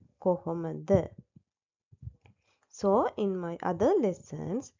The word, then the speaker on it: කොහොමද: in our teath කොහොමඩ so the correctect one is the first one කොහොමද so in my other